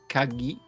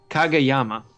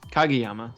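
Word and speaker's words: Kageyama: you've got this guy kagima um I'm looking up Al you actually say it kagayama kagayama sorry I was cutting out a syllable there um he's kind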